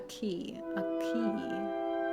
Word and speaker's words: quay: Quay, pronounced quay.